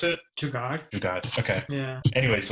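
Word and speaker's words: jugaad: How do you pronounce it? Jugad.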